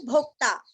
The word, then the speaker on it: भोक्ता: और आधा द भृत भोक्ता जैसे वक्ता वैसे यहाँ पे भोक्ता शरीर भूत भृत भोक्ता